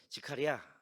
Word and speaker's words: 스가랴: 누가 저자라고요 스가랴 그런데이 원래 히브리식 발음은 지카리아 이거를 또 한국식으로 하면 데칼이 야 이렇게 표현하는데 그거 아니에요 그래야라고 합니다이 직하랴라는 스가랴서 그냥 한국식으로 할게요 스가랴서의